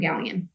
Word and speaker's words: Galyean: TikTok, it is my name, Galyean. And that's spelled Galyean. Yes. Gal as in girl. That usually helps.